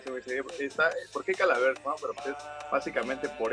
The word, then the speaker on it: Calaverx: Pues mira, la X se supone que se tiene que pronunciar como A, es Calavera, así.